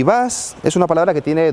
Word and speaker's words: Buzz: Transporter, combi, bus, bully, pero ¿de dónde sale ID Buzz? Vale, la razón es la siguiente. ID son las iniciales que utiliza Volkswagen para sus vehículos eléctricos en la actualidad. Y Buzz es una palabra que tiene doble sentido.